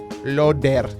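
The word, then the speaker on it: Loeder: The first song you heard tonight was Master Koga, 8-bit cover by Loder. That's L-O-E-D-E-R for those who don't know how to understand my strange pronunciation.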